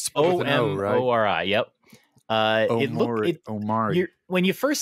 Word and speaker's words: Omori: It's spelled with an O. O-M-O-R-I.